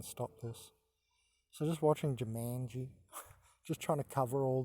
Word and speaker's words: Jumanji: go so you know Here I am watching Jumanji I thought it was Jumanji it's pronounced Jumanji this is the current website I'm